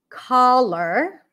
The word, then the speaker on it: collar: Collar. My collar is colorful. Color. Collar. Color. Ca, as in father. Color. Cup sound.